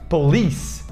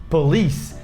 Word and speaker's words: police: Palavra número 8 é polícia em inglês, que muita gente fala police, mas o certo é police, police. Repara que a sílaba forte é o li, então police, police. E tem o E no final, a gente não pronuncia o E no final, então termina com C, esse C tem um som de S no final, então fica police, não é police. Não tem esse C no final.